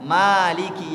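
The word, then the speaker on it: مالك: Maka kalau imam nggak boleh baca Maliki kecuali dia membaca riwayat yang lain. Tapi kalau yang dia baca adalah riwayatnya Hafiz Imam Asim, harus panjang bacanya, Maliki Yaumiddin.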